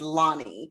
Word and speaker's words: Lani: make a correction my it's my pronunciation my name is Lonnie so I'm so sorry